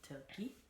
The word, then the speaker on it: Toki: also known as Toki. That's Loki with a T, Toki.